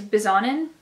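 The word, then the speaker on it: Bisognin: This is Dream House by Marzia I'm thinking to say it's Bizonin. I think the G is silent, which I don't like that at all, but I think it's silent.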